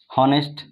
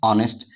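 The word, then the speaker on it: honest: हॉनेस्ट, इसको हॉनेस्ट नहीं बल्कि क्या बोलते हैं, ऑनेस्ट, यानी एच क्या है, साइलेंट होता है।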